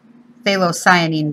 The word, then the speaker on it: phthalocyanine: Even though it's called phthalocyanine blue. Everybody calls it phthalo blue, but the entire word is phthalocyanine. Yeah. Phthalocyanine. The P is silent.